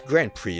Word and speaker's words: Grand Prix: but that's not all it's grand prix isn't it i always want to pronounce the x the race takes place